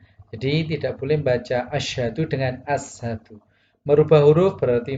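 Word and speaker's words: أشهد: Contohnya pada kata asyhadu dibaca ashadu. Ini salah. Jadi tidak boleh membaca asyhadu dengan ashadu.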